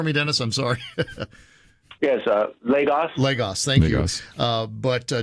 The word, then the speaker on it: Lagos: Pronounce that for me, Dennis. I'm sorry. Yes, Lagos.